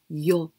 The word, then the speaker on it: 呼: And this kanji, 呼, we can also pronounce yo.